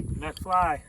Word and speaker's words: MacFly: I keep saying MacFly. How's it pronounced, Johnny? MacFly.